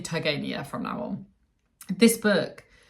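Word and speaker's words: Turgenev: children by Ivan tev I realized that I've actually been saying his name wrong I was saying tanev but I've been watching quite a lot of lectures about fathers and children recently and all the professors say TV so I'm going to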